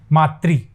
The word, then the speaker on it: मातृ: बोलने में हम उच्चारण में क्षेत्रीयता के कारण मात्र बोल देते हैं, मातृ इसको बोलते हैं मातृ, री है ना इसलिए मातृ इच्छा।